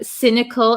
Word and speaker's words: cynical: Um cynical and egotistical. Okay. So um cynical. Cynical. Um, it has a C Y s. This is not a hard C, but a soft C. It sounds like an S.